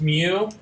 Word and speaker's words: mu: just like writing okay so mu is it's pronounced mu and it's like uh it's kind of like